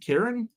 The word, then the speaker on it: Kieran: hard Kieran I mean I've SE seen it spelled with a k k i e r a n I think Kieran that's fine I don't what what that's not